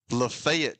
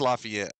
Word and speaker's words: Lafayette: Lefayet, Tennessee. I mean, it's it's Lafayette. I mean, what are we doing? You know what I'm saying, right? Lafayette, Louisiana. Lafayette, Indiana. But it's Lefayet when you get to Tennessee.